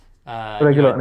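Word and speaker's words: Reguilón: Requilon. That's Requilon. Requilon. Reguilon, yeah.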